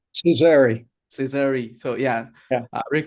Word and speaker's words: Cesari: So today we have Rick Caesar over here. So am I pronouncing that correct, right? Cesari.